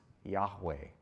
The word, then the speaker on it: Yahweh: action verb it's always i am and it's pronounced yahweh so why does that matter because here is